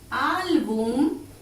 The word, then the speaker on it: álbum: Veamos, si separamos en sílaba tenemos así, al, boom. Esta es la última sílaba, se carga la voz en la penúltima sílaba, termina en M, por lo tanto lleva tilde.